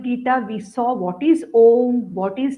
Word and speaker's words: Om: um the pronunciation is om many people pronounce it as oh no that is not correct om is the correct pronunciation though it has got three parts a u and M okay now our vas